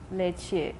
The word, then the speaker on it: leche: The letter E, such as the Spanish word for milk, which is written leche and pronounced.